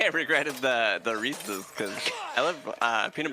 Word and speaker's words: Reese's: They They were like, "Okay, it's Reese's pieces." Cuz Reese's rhymes with pieces. No, it's Reese's Pieces. It's never been Reese's.